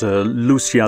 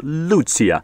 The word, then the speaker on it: Lucia: I was pronouncing it as Lucia the whole time, but of course it's Italian, so you pronounce it as Lucia.